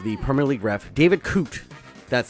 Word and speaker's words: David Coote: Curious Case of the Premier League ref David cot that's how you say his name but this